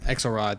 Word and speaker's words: Axelrod: David Axelrod, I apologize if I got his name wrong. Axelrod, thank you.